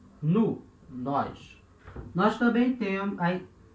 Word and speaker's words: nous: Em francês vai ser nous, então, O, U, som de U, certo? E S não se pronuncia, esse S. Então, se fala nous, nous, nós.